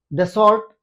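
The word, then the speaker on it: Dassault: इसके लिए रेस में फ्रांस की दसल्ट यानी दसों उसको दसों कहते हैं। वहां की जो फ्रांस की जो वहां का जो उच्चारण है उसमें उसको दसों बोलते हैं।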